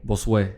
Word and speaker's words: Bosue: not boss. Cause I've been saying it Bosue. No, but it's like boss way. Bosue.